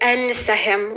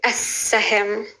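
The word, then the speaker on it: السهم: And the letter Sin, it's a solar letter. So we're not going to say al-sahim. We're going to say as-sahim.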